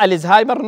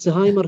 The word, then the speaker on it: ألزهايمر: الـ هذه ما هي آل التعريف العربية، اسمه ألزهايمر بالشكل هذا. فنطق الزهايمر نطق صحيح. صحيح، الزهايمر هو النطق الصحيح، كلمة زهايمر هي الكلمة الغريبة.